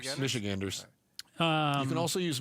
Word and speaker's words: Michiganders: How do you say Michiganers? Michiganers? Michiganders. Michiganders. Um, You can also use Michiganians, but it's I know Chris from Michigan.